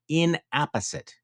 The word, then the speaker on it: inapposite: They are therefore inapposite. Is that how you pronounce that?